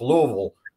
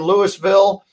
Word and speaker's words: Louisville: learn how to pronounce louisville they said just you know don't open your mouth and just mumble through and that's the way